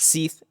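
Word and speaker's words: Cie'th: Seith, like Sith, like from Star Wars, but Seth, uh, with a C.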